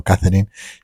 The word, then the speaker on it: Katharine: Katharine Houghton Hepburn, que por ejemplo se escribe Katharine con A, pero bueno, siempre lo hemos pronunciado Katharine y en inglés se parece mucho a Catherine, así que vamos a seguir con Katharine Hepburn.